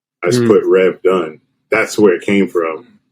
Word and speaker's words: Dunn: rev run so because my last name rhymes with run i just put rev done that's where it came